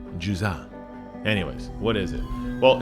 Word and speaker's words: Jusant: It's actually a French word pronounced Jusant, but I don't really speak that way because I'm just a simple American. And basically, the T is silent, in case you were wondering.